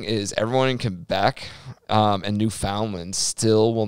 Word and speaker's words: Newfoundland: this newfoundland newfoundland yeah so so newfoundland newfoundland newfoundland you gotta say it like that though man newfoundland new newfoundland